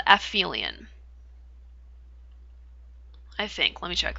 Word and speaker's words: aphelion: That's called aphelion.